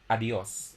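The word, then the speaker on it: adiós: not mistaken so adios so instead of producing two separate vowels we pronounce them as one so adios adios okay so it's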